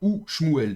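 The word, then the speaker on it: וּשְׁמוּאֵל: Donc ça sera ou schmouel. Donc n'importe quel mot qui a une première lettre qui est vocalisée avec un cheval, si vous avez la conjonction de coordination devant, vous la prononcerez ou et donc pas vous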